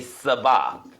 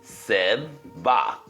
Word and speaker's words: Sabaoth: off and just say Sabaoth. It's not a hard name to pronounce. It just looks confusing. But the T is silent. It's Sabaoth.